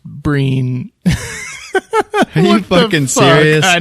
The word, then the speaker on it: Brian: The other guy, Brian Gleeson. Uh-huh. It says his name is pronounced Breen.